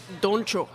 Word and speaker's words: Doncho: So Donnie. how do you pronounce his name? Doncho.